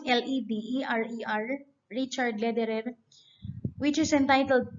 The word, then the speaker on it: Lederer: read the poem by richard lederer as you pronounce l-e-d-e-r-e-r richard lederer which is entitled english is a